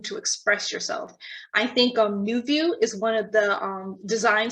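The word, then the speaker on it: NuVu: I think New View is one of the design schools who has a very strong social media presence.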